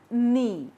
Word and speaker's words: knee: The second letter is K, K, knuckle, not, no, and knee. In all these words, K is silent and usually it comes at the first place.